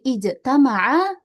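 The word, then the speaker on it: اجتمع: Karena di sini ijtamaa ada lima huruf ya. 1 2 3 4 5 ada lima huruf berarti hamzah wasalnya pasti dibacanya kasrah ya ijtama.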